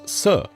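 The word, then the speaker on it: 死: In Mandarin Chinese, the word for the number four is su. The word for the concept of dead or death is almost identically pronounced as su.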